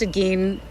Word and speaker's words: Gein: of America's weirdest killer Ed Gein some people have also pronounced a game however it's pronounced the guy had some